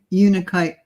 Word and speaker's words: unakite: Yeah, Unakite. Yeah, that's how I pronounce it.